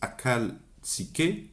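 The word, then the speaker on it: ახალციხე: Ça s'écrit Akhaltsikhe, mais le KH se prononce R, le J espagnol, la Jota espagnole.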